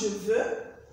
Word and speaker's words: je veux: Je veux is pronounced je veux, I want. Tu veux, it's not je veux. X is silent, remember the rule.